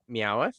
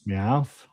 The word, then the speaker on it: Meowth: And then out of Death Rivals, I hit the Meowith. Meowth. Love that one. Meow. Got it. Meow. Add that third syllable in there.